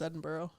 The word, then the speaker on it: Edinburgh: that's wrong well it's spelled Edinburg but it's pronounced Edinburgh really you know it's one of those weird